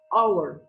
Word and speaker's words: hour: this one is pronounced our so big love the H is silent in this word and